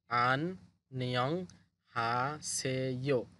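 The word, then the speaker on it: 안녕하세요: এখানে লেখা আছে আন নিয়ং আন নিয়ং হাসেইয়ো। আননিয়ং হাসেইয়ো। এই অধ্যায়টার নাম হচ্ছে আননিয়ং হাসেইয়ো। আননিয়ং হাসেইয়ো। একত্রে বললে এরকম হবে উচ্চারণ।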